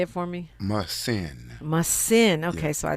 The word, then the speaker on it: Muhsin: Muhsin.